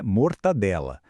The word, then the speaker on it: mortadela: Ela vem lá do italiano mortadela, que nem tem esse som de N. O que acontece no português falado aqui no Brasil é que esse som nasal, o N, meio que entra de penetra e se move para antes do D.